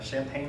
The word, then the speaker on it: Champaign: director in Champaign Urbana which I know is kind of weird champagne in Urbana but you kind of put it together champagne Urbana it sounds like a kind of a a delaying dessert for something right so I was